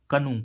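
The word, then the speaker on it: canoe: means जूता ऐसे इसमें सी ए एओ ई कनु कनु मीस डोंगी क्या होता है डोंगी ठीक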